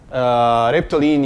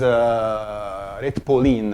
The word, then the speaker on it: Retpoline: Reptoline is Retpoline. I always pronounce it wrong.